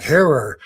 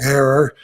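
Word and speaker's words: Herer: uh everywhere you go depending on where you're at they say it different from Jack her but he used to tell me think of Terror and he told me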